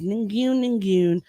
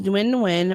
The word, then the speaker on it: Nguyen: So Flaws tweeted out, yes, her name is Ningyun, my grade 6 classmate. Nguyen. Wait, what did I say? Nguyen. Oh, yeah, thank you. The G is silent. Her name is Nguyen, my grade 6 classmate that sat in front of me.